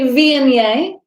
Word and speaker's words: Viognier: Next white wine is a Viognier, is how the grape is pronounced.